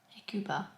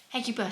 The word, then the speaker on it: Hecuba: I'm going to look up how you pronounce that. Hecuba. Hecuba.